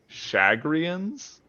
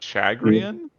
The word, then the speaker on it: Shagrian: Like Masameda's species um is apparently the Shagrians and not Chagrian or like same thing with the ch in chevan.